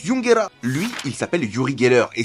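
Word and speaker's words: ユンゲラー: nom que lui yungerer c'est le nom du Pokémon en japonais et ça se prononce yungera lui il s'appelle yurigerer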